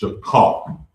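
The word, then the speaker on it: שכר: the scriptures say take a drink of strong, and it's pronounced shakar, and it's spelled S-H-A-K-A-R.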